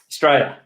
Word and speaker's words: Straya: Tell me, us, them a little bit about what Straya, and incidentally, is that how it is meant to be pronounced? Straya, yeah. Straya, yeah.